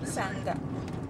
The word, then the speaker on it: sanger: Sanger? Is that how you say it? Is that what we say? Sanga.